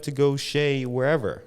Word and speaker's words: Chez: most people think it's chess Dante because it's spelled c-h-e-zed or Z if you live in America um but it's actually pronounced Shea because it's French right so in French